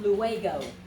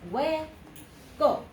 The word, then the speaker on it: luego: got that one okay so again there's a diphthong here this is not a three syllable word this is not luego okay it is way go okay that's it two syllables let's try to get